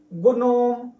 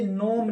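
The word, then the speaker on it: gnome: में बहुत दिक्कत होगी जैसे कोई बच्चे इसको पढ़ेंगे गु नो ऐसे कोई पढ़ेंगे लेकिन ये याद रखेंगे य नोम लिखा है क्या लिखा है नोम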